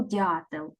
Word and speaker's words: дятел: складається із двох складів А тепер визначаємо який склад є наголошеним гукаємо дятла діаметр де найголосніше ми з вами проговорили в першому складі тобто схемка показує що